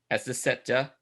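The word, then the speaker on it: Azaceta: Acecetta.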